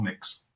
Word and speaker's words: Mx: MX, which is pronounced MUX or mix.